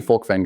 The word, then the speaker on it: Volkwyn: It's actually Volkwyn, guys. Just so everybody knows, it's like Afrikaans Dutch.